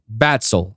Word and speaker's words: Vaxle: do you pronounce it yeah how do you pronounce it batsol okay why is it that you choose that